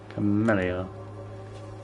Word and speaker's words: Camellia: Camellia. That's how you pronounce it.